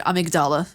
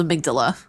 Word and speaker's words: amygdala: to point something out I'm not going to pronounce it amygdala because that's just wrong it's called amygdala get it right and it's a little